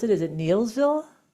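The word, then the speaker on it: Neillsville: And how do you pronounce it? Is it Neilsville? Neilsville, yep.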